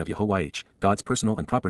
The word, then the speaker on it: Yahowah: of, even before and near, Yahuwah, the proper pronunciation of YAHOWAH, God's personal and proper name based upon Haya,